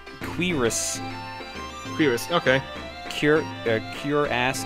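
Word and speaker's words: cuirass: How do you say that? Is it curious? Curious. C U I r a ss. Uh, or cur curus. That's cotton robe. Curus, I believe, is how it said. Quirus.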